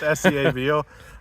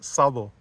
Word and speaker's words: Szabo: the US and always had trouble with that scabo Mr Sabo zazo Sab everything whatever yeah it's an ass Sabo and we've been talking about a a ongoing